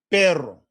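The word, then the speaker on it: perro: But now we have this word with a double R. Pero. I know you hear the difference between the two, right?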